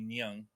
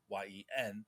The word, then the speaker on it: Nguyen: of a minority, and her name is Mimi Nyung, I believe. How was you pronounce her name? Hmm. Nguyen, and she suggests that